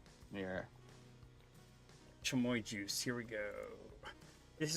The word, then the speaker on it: chamoy: how is it pronounced is it tremoy or kamoi i think it's chumoy yeah chamoy juice here we go